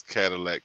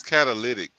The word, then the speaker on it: catalytic: it just sounds funny when anybody says Cadillac converters well I'm saying it wrong yeah uh it's kind of it's catalytic yeah uh but I've heard